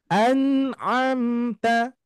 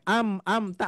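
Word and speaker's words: أَنْعَمْتَ: kalau ada madnya Oke anamta ada a ada a bedakan Pak Bu ini jangan sampai am amta apalagi ya Ini apa Biasanya anak-anak kita suka mengucapkan am am ta mungkin lagi belajar kalau kita sudah dewasa harus diperbaiki ya jangan sampai amamta alaihim bukan amamta di sini ada Nun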